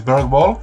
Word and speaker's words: BERGWALL: My name is BERGWALL, or BERGWALL' as it's pronounced in Sweden, and today I'm going